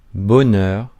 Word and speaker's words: bonheur: I will not show all the audios, but randomly in France, and it's Bonheur, bonheur.